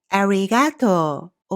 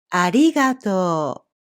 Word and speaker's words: ありがとう: to use English pronunciation, so you will probably pronounce it as ありがとう or something like that. But the correct pronunciation is ありがとう.